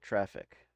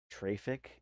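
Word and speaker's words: Traefik: lb let's look at traffic t r a e fi K traffic is how my brain wants to pronounce it but I'm quite sure that's supposed to be pronounced traffic back over here let's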